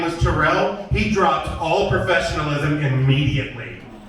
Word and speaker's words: Terrell: My name is Terrell, by the way. I want to go ahead and just make sure everyone knows about that. My name is Terrell.